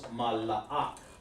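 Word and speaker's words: מלאך: So it's mala'ak. Mala'ak, okay? And that's the correct way to say it.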